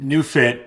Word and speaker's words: NeuFit: The name New Fit is spelled NEU like neurological and then fit for fitness.